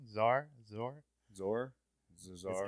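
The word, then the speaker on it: Szohr: main cast Jessica Z zazar probably saying that name wrong Zar zor zor Zar it's like it's like s z r I believe zor Z yeah yeah she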